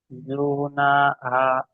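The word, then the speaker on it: جُنَاحُ: জিম পেশ জু, নুন আলিফ জিম পেশ জাবার জু, না, নুন আলিফ জবর, জু না, জু না, হা, হা পেশ হু, জুনাহু। হা, হা পেশ হু, জুনা, জুনা হু, জি ঠিক আছে ভাই, ইজরা করেন।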